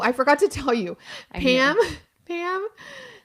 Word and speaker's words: Pame: Pam. Pam spelled her name P A M E. The E is silent.